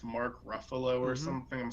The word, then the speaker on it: Ruffalo: It's Mark Ruffalo or Mm-hmm. something. I'm saying his last name wrong.